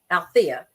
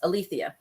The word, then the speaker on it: Althea: name in Greek so she spelled it a l e t hea and pronounced it Alia versus althia so the only thing